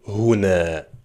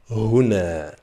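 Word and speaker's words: هنا: va être le mot huna, d'accord ? Huna, donc qui est composé de deux syllables. Hou na, d'accord ? Hou ! Trois lettres en arabe mais deux syllabes. Répète après moi. Huna.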